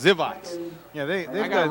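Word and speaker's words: Grzywacz: zat that's a great name it's spelled gr z y w a CZ and they say and and he says zivat yeah they I got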